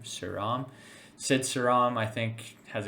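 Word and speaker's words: Sriram: song I think sidam pretty sure that's how you say it s r i r m suram Sid saram I think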